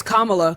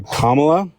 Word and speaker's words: Kamala: you don't oh it's Kamala Kamala Kama is a word in English language just put a law after it yeah okay kamla yeah fantastic okay so